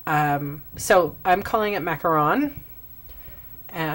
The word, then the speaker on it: macaron: the new uh mint macaron um I'm assuming in Canada anyway if it's uh if there's two o's that means macaroon and one o means macaron um so I'm calling it macaron and not trying to